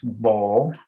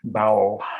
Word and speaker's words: Bowell: I will note that his name is pronounced Bowell and not as it's spelled Bowell, which would be an unfortunate name for any politician.